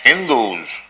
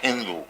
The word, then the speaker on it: Hindu: So people beyond the Indus river, the Mohammedans in Arabia and other countries, they pronounce H as S as H. Instead of Sindhu, they used to pronounce it as Hindu.